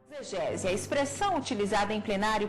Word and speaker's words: exegese: Nós estamos acostumados a falar exegese, né, com fonema de Z, né? Para muitos, e como regra no português atual é uma palavra paroxítona, né? Exegese, ou seja, a penúltima sílaba pronunciada mais fortemente.